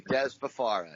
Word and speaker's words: Dez Fafara: The one and only, I hope I'm pronouncing this right, Dez Fafara. Yeah, absolutely. Dez Fafara.